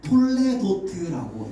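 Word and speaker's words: תולדות: 어 이런 족보를 어 히브리어로 어 톨레도트라고 읽고 톨레도트. 톨레어트라고 하는데 족보와 개보의이 중요성은 우리가 성경을 보아도 우리가 잘 알 수가 있어요.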